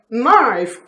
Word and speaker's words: knife: Knife, K-N-I-F-E. K is silent in knife.